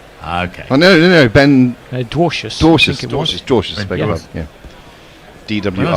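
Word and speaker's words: Dwarshuis: Dwarcius, beg your pardon, yeah. DWR. When I saw his name, I thought, surely his jingle must be Our House, but if he's pronounced Dwarcius, then probably not.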